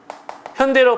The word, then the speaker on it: 현대: 이걸 어 우수 개수리 현다이 현다이 이렇게 얘기하는데 발음되는 대로 읽으면 현이입니다 현다이 현다이 아니라 현대 할 때는요 a AI 아니라 ae 되는 거죠 하지만 이렇게 어 원래대로